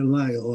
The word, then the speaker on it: Lyell: Alguns falam de El, mas é Lyell a pronúncia correta.